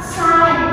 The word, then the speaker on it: sign: Nah, misal kayak kata ini enggak banyak juga ni kayak kata sain tanda tulisannya SN bacanya sain.